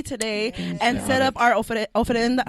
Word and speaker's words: ofrenda: So shout out to Mari, who is dressed to the T today and set up our ofrenda. How do you say that? Oh my God. I Yeah, always say ofrenda.